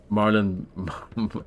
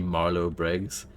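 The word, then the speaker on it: Marlow Briggs: Marlin. No, it's actually Marlo Briggs, but he likes saying it wrong on purpose because he hates that game so much.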